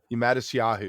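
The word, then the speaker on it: Matisyahu: I'm not going to pronounce his name Mattis right. Yahoo. Mattis Yahoo, yes.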